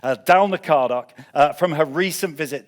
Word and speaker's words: Dalnacardoch: her first impressions of Dal n cardok uh I've been I've been getting a hard time by the way from over there about the way I pronounce that so uh dalna cardock uh from her recent